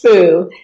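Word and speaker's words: 福: symbol of happiness, because the happiness in Chinese is pronounced fu, and bat is also pronounced fu.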